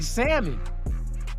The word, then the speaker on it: salmon: Bitch, you taste like salmon. Or as or as motherfucking Abram would say, bitch, you taste like salmon. That nigga pronouncing the L.